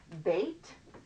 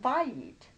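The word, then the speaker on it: בית: that in this word bait should know that one house up it's not buying it which just means house its bait house up bait side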